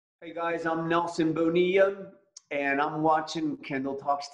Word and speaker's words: Bonilla: it's fast right it's Bonilla the two L's are sort of silent okay Bonilla yes okay so that